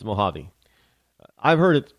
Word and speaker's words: Mojave: Rush limbo's R Linda if you sound it the way it's spelled it's mojavi mojavi mojavi desert uh